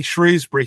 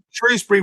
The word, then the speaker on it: Shrewsbury: so it would be it' be shrewbury for me um it's only the POS Posh people that say sh shrewbury okay so both are acceptable yes yeah Shrewsbury rhymes with a lot